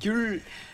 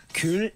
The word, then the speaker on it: 귤: 귤 좋아해요. 귤. 귤 오늘 몇 개 먹었어? 귤 세 개 먹었어요.